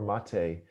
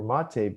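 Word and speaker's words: Maté: video at silquest you know from dr gabor mate and uh he has a lot of great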